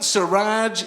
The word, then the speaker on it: Suraj: My name Siraj, it's two syllables, but it's still quite challenging for white people to spell, right?